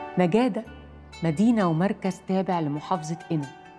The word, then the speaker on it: نقادة: اسم نجادة بيرجع لبداية النطق باللغة العربية في المنطقة دي، وتحديداً في القرن ال17 لما كان الأهالي بيتكلموا اللغة القبطية، والاسم ده تحريف من اسمها القبطي نيكا داي، واللي معناها الفهم والمعرفة.